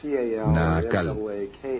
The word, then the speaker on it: Naacal: Se llamaba Naacal, N-A-A-C-A-L, o N-A-A-Cal, depende de cómo lo quieran pronunciar.